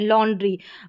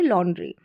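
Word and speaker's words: laundry: वाई इस तरीके से, तो हम बड़ी ई के रूप में इसका प्रोनाउंसिएशन कर रहे हैं, लॉन्ड्री, बड़ी ई बोल रहे हैं लेकिन शॉर्ट ही प्रोनाउंसिएशन रहेगा लास्ट में, लॉन्ड्री खींच के नहीं बोल रहे, लॉन्ड्री।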